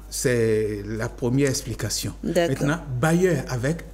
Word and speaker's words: bailleur: Ça sonne bailleur, mais ça s'écrit de manière différente.